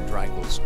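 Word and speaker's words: Dreichels: Oh, she is pronounced Dreykles. I was actually pronouncing it correctly the whole time.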